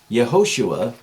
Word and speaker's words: Yehoshua: It would have been pronounced Yehoshua. Anyhow, that takes the Yeho, not just Yo, like Joshua. It's not just J-O. It would have been Yehoshua, and it means Yehovah will save.